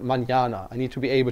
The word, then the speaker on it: mañana: know like if it's the word is not manana, but manana.